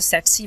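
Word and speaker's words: tsetse: एक फ्लाई से जिसे सेट्सी फ्लाई कहते हैं। इसको लोग डिफरेंट तरीके से प्रोनाउंस करते हैं तो आपकी मर्ज़ी, ठीक है। ऐसे लोग टिसी भी पढ़ते हैं कुछ तो ये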